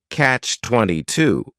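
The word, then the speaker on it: Catch-22: favorites is Catch 22 this is two words it's a compound noun the word catch is just one syllable and then 22 is three syllables and the stress is on that final syllable Catch 22 the word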